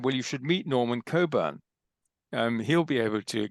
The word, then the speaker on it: Cockburn: with the Reverend Norman cockburn yes Coburn oddly enough that's how it's pronounced like in kubern's Port